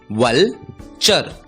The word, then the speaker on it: vulture: दोस्तों, इस शब्द में भी TURE आया है। हमने सीखा TURE का उच्चारण होता है चर और इसलिए इस शब्द का उच्चारण होगा वलचर, वलचर।